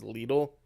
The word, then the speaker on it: Lidl: On the UK adverts for a while, they tried to get us to pronounce it the proper German way, which is Lidl, but now they've gone back to saying little.